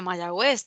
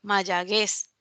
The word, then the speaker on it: Mayagüez: el caso de mayagüez si no le colocamos este esa diéresis a la 'u' no diría mayagüez diría que mayaguez así que en el